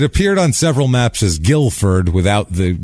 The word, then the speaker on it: Guilford: a a thing here it was named after Guildford in England that's why it's Guilford I think I've been calling it have I been calling it gulford gulliford since the I said it right in the opening I know and I think I've been calling it gulliford ever since I apologize if you've